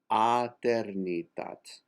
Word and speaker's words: Eternitat: Eternitat, soprano 2, and measure 264 to 266, is aternitat. The accent is on ter, aternitat.